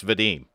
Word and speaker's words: Vadim: It's Vadim. So I got the right. Yeah, you're pretty good. But Vadim, it's Vadim.